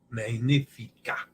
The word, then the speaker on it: magnifica: coach magnifica main leaf magnifica the GN and the Titus pronounced NY like lasagna she is like the